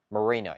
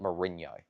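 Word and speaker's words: Merino: Let's see. Marino. Yeah, not Mourinho. That's uh that's the coach, not the player.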